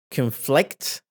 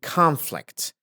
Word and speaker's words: conflict: recovery terrorism conflict conflict they actually two pronunciation for this word conflict which means and it's a verb and conflict if we look it up in dictionary you can see here that there are two variations here as a noun and